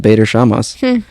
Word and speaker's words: Bader Shamas: Bader Shamas. Okay. And I'm not mispronouncing. Yeah. That's literally how it's spelled. Bader Shamas.